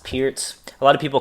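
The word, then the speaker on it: Pirc: uh defense for black it's spelled p RC pronounced Pierz a lot of people call it the perk um so again it's one of these hyper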